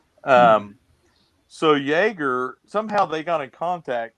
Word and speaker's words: Yeager: So in 1954, she went to Miami and she met a photographer named Bunny Yeager, or Yeager, I think it's pronounced. So Yeager, somehow they got in